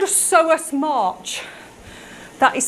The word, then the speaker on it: psoas: Something called a psoas march. That is spelled P-S-O-A-S, a psoas march.